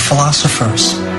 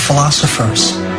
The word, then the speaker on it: philosopher: They were philosophers and scholars. They were philosophers and scholars. They were philosophers and scholars. They were philosophers and scholars. 그들은 철학자이자 학자들이었어요. Philosophers. 강세가 오에만 있고요. 나머지는 다 슈아 발음입니다.